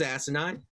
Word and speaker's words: asinine: was it was asinine it was asinine uh emphasis on the first syllable so guys an audience